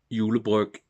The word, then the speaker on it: julebryg: So this will probably be the first and last Tuborg julebryg I will have this year, because that's how you say it in Danish, julebryg.